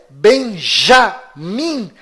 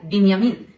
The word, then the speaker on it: בנימין: Esta pronúncia Benjamin Netanyahu é falsa. Inclusive, no hebraico não existe letra com som de J. E o filho caçula de Jacó se chama Benjamim, ou em hebraico, Binyamin, e vem da mesma